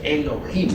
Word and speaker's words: Elohim: Eso significa Elohim o mejor dijéramos Elohim porque la H se pronuncia como J.